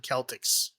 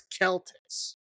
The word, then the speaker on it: Celtics: Because Celt is Celt. That's how you pronounce it. That's all through European history. That's how you pronounce that word. And then Boston, who should know better, because there's a lot of Irish people in Boston, named their basketball team the Celtics, spelling it the same as Celtics. Yeah. I never understood that. And I called them Celtics, and I got made fun of.